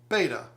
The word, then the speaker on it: Betta: are from the genes-- betta pronounce it like better would be better less false and closer to the real thing all the criticism for